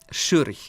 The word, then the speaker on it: Schurch: El nombre se pronuncia Schurch.